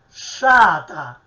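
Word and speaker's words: strata: STR, noi scriviamo in italiano strada, in siciliano scriveremo sciata. Vedete, questo gruppo STR che io sto evidenziando, noi lo pronunciamo sempre cacuminale, sciata, sempre strisciando, retroflettendo la lingua all'indietro sul palato superiore, sciata.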